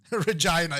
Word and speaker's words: Regina: I haven't called Regina in her true pronunciation yet because I'm trying to keep it PG-13. reGYNA, yeah.